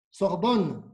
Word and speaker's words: Sorbonne: ¿Cómo se pronuncia tu universidad francesa? Sorbonne, Paris, Sorbonne.